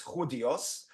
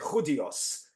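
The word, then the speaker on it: Judíos: For those of you who are not familiar with Spanish pronunciation, it's not Judios, it's Judios.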